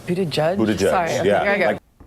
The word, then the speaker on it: Buttigieg: Pete Buttigieg is the mayor of South Bend, Indiana, and